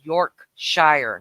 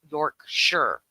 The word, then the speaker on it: Yorkshire: e which makes the I a long I Yorkshire not York sure you say War ches Shire it's wor to